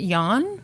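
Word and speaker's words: Jann: okay how do you say this name when it's a dude J Ann is it Yan I think so okay Yan winner asked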